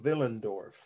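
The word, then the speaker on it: Willendorf: is a woman from villendorf and that's a city in austria w-i-l-l-e-n-d-r-o-f pronounced veal like a v but most people in america say with a w spell w-i-l-l-e-n-d-o-r-f a woman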